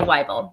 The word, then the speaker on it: Wible: because like you said it's like bible this is a great